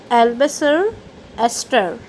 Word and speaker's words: Eleanor Estes: Its pronunciation is like Albasar Esther, and she is the author of your lesson number 5, the 100 dresses.